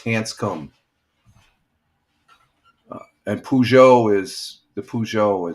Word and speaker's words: Hanscom: No, it's Hanscom. Hansum is spelled H A S C O M. Air Force Base. There it is. That's That's how you spell it. Hansum field. It's Hanscom Air Force Base. It's not Hanska. Hansa. It's Hanscom.